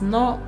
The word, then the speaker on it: の: It is pronounced as no and it indicates possession.